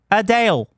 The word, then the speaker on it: Adele: in fact British and the biggest singer in Britain is adale and before you think of said her name wrong that is how Adele pronounces Adele yeah two years ago